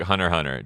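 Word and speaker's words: Hunter × Hunter: Do not pronounce the X though.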